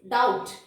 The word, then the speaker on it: doubt: Doubt. Is it? How many of you are calling this doubt? No, right? This is doubt.